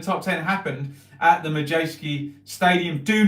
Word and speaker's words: Madejski: And of course, it's at the Majeski Stadium. Madejski, I always say it wrong, Madejski, there you go.